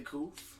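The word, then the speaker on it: Couth: new to the channel, my name is Koof. You can call me Koof for short, C-O-U-T-H, because you can't spell it either.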